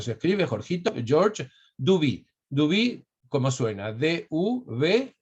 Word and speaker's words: Duby: historia, que es Georges, no necesito decir cómo se escribe, Jorgito, Georges Duby. Duby, ¿cómo suena?